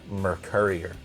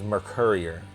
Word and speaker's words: Mercourier: Tri-Brigade Mercourier, like a delivery. It is a drone. It brings back data. It is Mercourier.